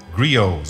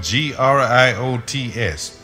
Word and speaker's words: griot: They told me about the existence of very old men who are called griots. It's spelled G-R-I-O-T-S.